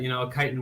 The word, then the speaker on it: chitin: A lot of people call us Chitin, but chitin works. Okay. How is it supposed to be pronounced?